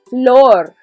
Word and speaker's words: flor: have c all right repeat floor as in the floor just say with a little little accent okay floor so which